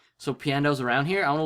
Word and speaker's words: Piandao: I literally read that as Panda. Panda-O. I forgot how to pronounce it, and it was like, what the fuck is Panda-O? I know that's not right. Yeah, Piandao.